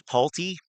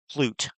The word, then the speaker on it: Pulte: That says Pulte. The U is before the L. So in no universe is that word pronounced Plute. There is no possible world where that fucking word is pronounced Plute.